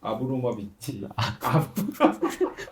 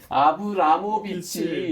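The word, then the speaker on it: Abramović: 마리나 아브로모비치. 발음도 안 돼. 마리나 아브로모비치. 발음이 안 돼. 아브라모비치.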